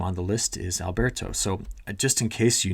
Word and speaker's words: Alberto: and how to say fanatically the names it's Alberto uh when when we get when it gets